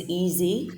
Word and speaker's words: Easey: name is and yes my surname is easy there's no fancy pronunciation and for many years I've introduced myself as easy by name and Easy by Nature I'm born in Zimbabwe